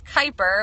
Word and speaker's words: Kyper: Kyper um yes it's Kyper I always going asked how do you say your last name it's a strange one but it is Kyper with a strong eye um Kyper